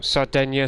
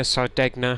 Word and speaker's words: Sardegna: Oh, Sardinia, Sardegna, however you want to pronounce it.